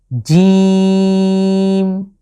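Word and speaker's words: جيم: এই লেটারটি উচ্চারণে মোট 3 আলিফ বা 3 সেকেন্ড লং করে পড়তে হবে। একটু যদি খেয়াল করেন তাহলে আমি জিম যে উচ্চারণ করছি, বাংলায় যে বর্গীয় জ, ঠিক একই মাখরাজ, একইভাবে আমরা উচ্চারণ করতে পারি জিম। অর্থাৎ জিভের মাঝখান, জিভের যে মধ্য জায়গাটা আছে সেটা তার উপরের যে তালুর সাথে আমরা লাগিয়ে উচ্চারণ করব জিম।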